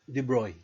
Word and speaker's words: de Broglie: right by the way Louis Victor's surname is pronounced debris all right so